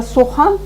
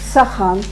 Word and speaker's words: сохан: Вместо «о» нельзя говорить «а». И писать тем более. Например, слово «сохан» нельзя произносить «сахан». Опять-таки, чтобы не потерять смысл высказываемого.